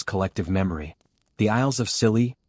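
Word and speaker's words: Scilly: The Isisles of Silly, pronounced silly, yes, just like the word, already sound like they were invented by a comedy writer.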